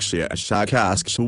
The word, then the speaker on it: Shashakask: of your human letters, something like Shashakask with a very strong pronunciation of the sh and k sounds.